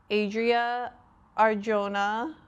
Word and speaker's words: Adria Arjona: Adria Arjona who plays Sarah.